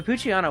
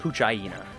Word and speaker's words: Poochyena: So I just, like, didn't even register what the fuck it was meant to be. I guess you should probably pronounce it like Poochyena, right? But that sucks.